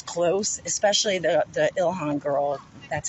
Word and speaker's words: Ilhan: i mean it's it's close especially the the ilhan girl that's how you pronounce her name um close but not and